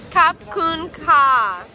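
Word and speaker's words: ขอบคุณค่ะ: Kap Kun Ka. You have to say Kap Kun Ka.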